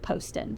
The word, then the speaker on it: Poston: I have heard her say that it is pronounced Poston so I will forever now be saying Ashley